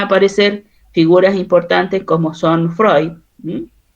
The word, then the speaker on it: Freud: Ah, pero se pronuncia Freud.